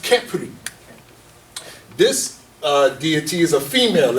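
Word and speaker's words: Khepri: So now this one right here, its name is pronounced Kepri.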